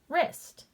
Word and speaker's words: wrist: we know when we see wr that the w is going to be silent and the r is going to make the sound so let's use that rule sounding out this word the w is silent and now i sound it out er est wrist okay let's dive into